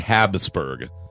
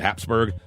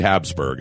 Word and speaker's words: Habsburg: of Habsburg it's actually Habsburg but for some reason America we like to put a P in there called Habsburg but it's actually Habsburg well South America puts